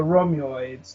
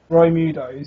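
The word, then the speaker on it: Roidmude: forgot one touch though because he's protecting the rids now he's not able to fulfill his role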